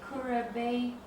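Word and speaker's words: Kuribayashi: Do you have to pronounce his name? Kurabayashi.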